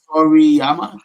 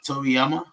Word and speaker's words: Toriyama: AI it's Japanese Toriyama Toriyama that's how you pronounce that Toriyama Toriyama see I